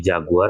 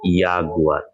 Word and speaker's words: Jaguar: Lalu yang berikutnya, nah ini tadi huruf J kan tadi kan saya bilang tadi dibacanya yot. Maka untuk di kata ini dia dibaca menjadi jaguar. Ya, jaguar. Ini bukan jadi jaguar tapi jaguar.